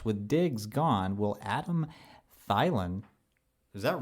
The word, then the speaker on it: Thielen: It's Thielen. Thielen. You know, You recognize. traditional pronunciation is an I sound if the I is last in names, but I don't know the origins of that name.